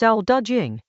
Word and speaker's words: Dao De Jing: Chapter 56 of the Dao De Jing, pronounced Dao De Jing, opens with a line that stops you.